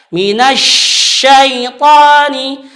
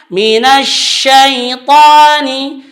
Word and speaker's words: minasyaitani: tetapi dia tidak mengalir, dia membacanya bisa seperti minasyaitani, itu salah. Itu masuk ke huruf sin. Kita baca ini adalah huruf shin. Maka itu hurufnya di tengah lidah naik ke langit-langit atas. Minasyaitani. Karena huruf shin itu adalah huruf yang mengalir suara, mengalir angin, dan dia tafasyi, hembusan anginnya lebih besar lagi. Maka bacanya minasyaitani.